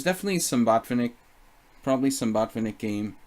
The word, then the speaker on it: Botvinnik: I mean, there's definitely, you know, there's definitely some Botvinnik, probably some Botvinnik game, Botvinnik, if we want to pronounce it correctly.